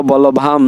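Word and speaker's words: বল্লভাং: জগৎধাত্রী কৃষ্ণ ভক্তি পদায়িনি এখানে যে অনিষ্কার রয়েছে সে অনিষ্কারটা ম উচ্চারণ হবে আমরা ম উচ্চারণ করব আর বিসর্গ উচ্চারণ হওয়ার মতো হয় তো আমরা এখানে ওম গোবিন্দ বলভাম দেবী ভক্ত চৈতন্য কারিনি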